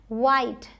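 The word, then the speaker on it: white: वाइट, डब्ल्यू एच आई टी, वाइट। Line, time, साइट। ये जो last में ई हैं ये सब साइलेंट हैं, इनको हम प्रोनाउंस नहीं कर रहे हैं।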